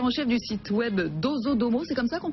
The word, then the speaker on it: Dozodomo: Rédacteur en chef du site web Dozodomo, c'est comme ça qu'on prononce? Absolument. Dozodomo, donc au Japon depuis 5 ans.